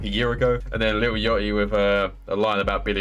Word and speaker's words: Lil Yachty: And that is the right way to say Lil Yachty, by the way.